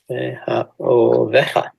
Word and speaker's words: מאחוריך: The pronunciation is not very obvious. Listen. מאחוריך.